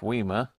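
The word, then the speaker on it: WIMA: they're pretty good stuff weima that's how you pronounce it just these two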